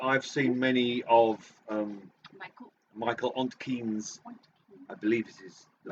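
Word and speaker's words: Ontkean: I don't know that I've seen many of Michael Ontkeen's. I believe it is the pronunciation. He's not keen, is he? He's not. He's Ontkeen.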